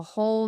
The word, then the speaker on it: whole: So whole and whole it sounds the same like knight and knight, whole and whole but the spelling is different.